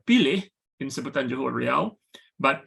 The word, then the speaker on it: pilih: So for example, the word spelled P-I-L-I-H is pronounced pilih in Sebutan Johor Riau, but pilih in Sebutan Baku.